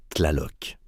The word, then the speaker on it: Tlaloc: Tlaloc se prononce Tlaloc.